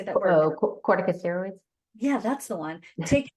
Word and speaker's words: corticosteroids: Oh, corticosteroids.